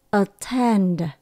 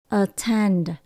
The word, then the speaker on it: attend: hoặc là lưu tâm chúng ta nhấn âm số hai âm đầu tiên đổi về chữ ơ hạ thấp giẫm xuống a attend attend kế tiếp mình có từ